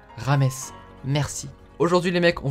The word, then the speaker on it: James: les personnes qui disent James Rodriguez ça se prononce rames merci aujourd'hui les mecs on va parler de